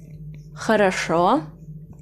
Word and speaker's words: хорошо: Хорошо. Хорошо. Üç heceli kelime ve son hece vurguludur. İlk iki hece vurgusuz ve burada o yerine a okunur. Şunu transkripte şimdi göstereceğim. Ha, ra, şo.